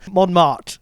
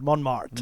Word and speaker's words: Montmartre: Not bad. Montmartre, it is, Montmartre.